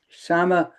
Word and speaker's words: Kshama: So, Paul has put uh Kashama's website in the chat, which is Kasam Sama. It's spelled with a K, but you don't pronounce the K.